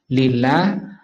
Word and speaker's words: لله: Asalnya li Allahi. Alnya dibuang karena seringnya dipakai menjadi bacanya lillah.